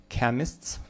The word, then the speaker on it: chemists: Chemists. Слова грецкого происхождения будет к. CH is pronounced like k in words of Greek origin.